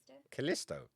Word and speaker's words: Callisto: Because I keep getting brought up and I keep not being able to pronounce it. This one. Callisto? Callisto.